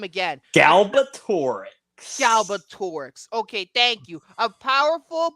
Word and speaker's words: Galbatorix: John malkovich's character I'm not going to follow pronouncing that name again galbatorix galbatorix okay thank you a powerful but evil Monarch